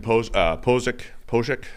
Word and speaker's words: Pocic: So bringing back Ethan Pocic.